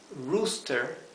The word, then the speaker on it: rooster: Rooster es gallo. Fíjense la doble O.